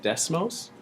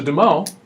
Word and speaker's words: Des Moines: city of Des Moines and we call that decimals do you let people call our capital des - no that's the moment will forever call that des moment we do not pronounce our essence here in